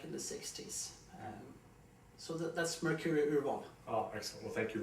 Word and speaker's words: Mercuri Urval: Mercuri Urval is a Swedish pronunciation of my firm. Mercuri is Mercury as a star, and Urval is selection in Swedish.